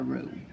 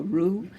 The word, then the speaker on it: roux: That's what we're aiming for when we are doing our roux.